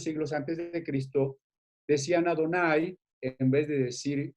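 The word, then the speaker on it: Adonai: lectura marginal donde dice pronúnciese adonay es decir en vez de el nombre de dios debe decirse ado nay las células generaciones con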